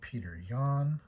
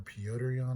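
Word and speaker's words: Petr Yan: We have a really nice looking refractor of Peter Yan, or Piotr Yan, I think is how it's pronounced.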